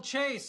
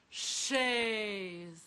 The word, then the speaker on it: chaise: Beautiful chase, isn't it? I believe it's pronounced chaise.